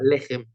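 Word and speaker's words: לחם: Nosotros no decimos lejem, sino lejem. ¿tá? Lo acentuamos en la primera sílaba, lejem.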